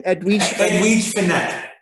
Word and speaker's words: Edwige Fenech: How do you pronounce her name? Edwige Fenech.